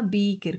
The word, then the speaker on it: beaker: Beaker, con B larga, con K, se escribe beaker, o vaso de precipitado.